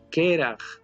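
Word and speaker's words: קרח: Entonces aquí diría keraj, y keraj significa hielo, frío o escarcha.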